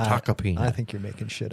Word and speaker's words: Tacopina: It is spelled with an M, but it's Taka is the pronunciation. Taka peanut.